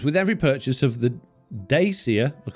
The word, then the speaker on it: Dacia: of the Dacia, well, currently it's called Dacia according to the advert. It's definitely not a Dacia. I don't think the people at Dacia know how to even pronounce their own car's name.